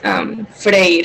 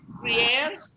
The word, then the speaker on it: freír: So you do pronounce the ending R? Mhm. Frier.